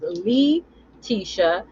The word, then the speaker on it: Leticia: It's really pronounced as Lee Tisha, but I don't mind.